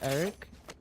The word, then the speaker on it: Jerick: Eric with a J. Yo, what is that about? The J is silent. So, Eric, huh?